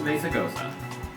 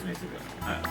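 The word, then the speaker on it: Mesagoza: No, the Z is pronounced as an S because... hold on. Where's Mesagosa? There it is. The Z is pronounced as an S because it's Spanish.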